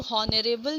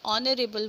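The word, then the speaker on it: honorable: Start ज़रूर है, लेकिन एच क्या है यहाँ पे, साइलेंट है। हम लोग हॉनरेबल नहीं बोलते हैं, हम लोग ऑनरेबल बोलते हैं। एच साइलेंट रहता है स्टूडेंट, इसलिए यहाँ पे हम लोग एन यूज़ करेंगे।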